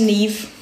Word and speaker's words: Neve: I'm talking to a girl with the same, it's pronounced Neve. Like N-E-E-V.